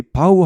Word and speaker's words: bow: 여기 바우 하면 절하다 인사하다는 말이고 보우 하면은 활 나비 넥타이입니다. 발음이 달라집니다.